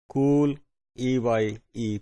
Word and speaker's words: Cooley: Cooley, इसको अगर American देखें तो उसको प्रोनाउंस ऐसे ही कर रहे हैं, cool E-Y-E, Cooley.